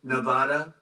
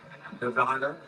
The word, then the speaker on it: Nevada: And don't ever mispronounce the name. You're not allowed to do that, Joe. You mispronounce the name, you got a problem. You ever see somebody when they say it's Nevada? Nevada? No, they're in deep trouble.